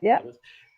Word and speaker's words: Plymouth: And you mentioned that you guys are like a small group of people based in Plymouth. I think that's how you pronounce the name, right? Plymouth, yep. Plymouth.